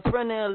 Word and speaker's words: Fresnel: On the Fresnel light, the S is silent.